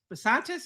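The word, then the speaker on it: Bisontis: Um Texas A&M Chase Bantis is how you say it.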